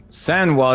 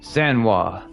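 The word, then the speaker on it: Sanhu: Sano, that's how you say her name. Sano.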